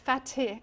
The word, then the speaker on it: Fatih: I'm not sure if I'm saying his name wrong. No, it's Fatih. F T F A T I H.